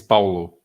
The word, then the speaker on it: Paulo: It's Paulo. Yeah, it's like in Italian. It's Paulo. It's like in Italian, but with an AU instead of an AO.